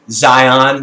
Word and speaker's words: Zion: Zion trip baby Zion to be phonetically correct Zion not with an S Zion National Park Zion